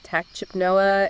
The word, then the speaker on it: tachypnea: And she says he entered it due to tachypnea and hypoxia. Right. So, tachypnea, which is pronounced tachypnea.